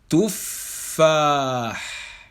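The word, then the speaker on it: تفاح: Donc, au niveau de la prononciation, nous allons, au début, lorsque nous allons prononcer la shadda, nous allons entendre le fa soukoun, ensuite le fa shadda. Écoutez bien, ici, tuffah.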